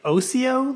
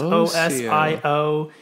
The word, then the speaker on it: Osio: And then Osio, we say Osio Labs, Osio.